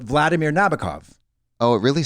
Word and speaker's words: Nabokov: be like you know they say Vladimir Nabokov Nabokov Nabokov it's not Nabokov Vladimir Nabokov the book of like